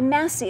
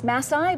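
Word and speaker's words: Masi: you'll notice it's by Massey again there's that switch between the I and the e we would think it's Mathai but it's Massey Massey so that's how you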